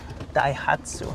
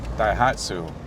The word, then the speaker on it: Daihatsu: Rocky's your, how do you pronounce it? Daihatsu. Daihatsu.